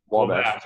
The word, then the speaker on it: Wabash: Am I pronouncing that correctly? Wabash.